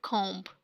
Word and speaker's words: comb: This is not comb, means B is totally silent at the end.